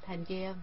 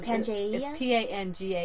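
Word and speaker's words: Pangaea: Pia it's hard to p a n g a ea I think it's panga because before an a it's a hard G so and I really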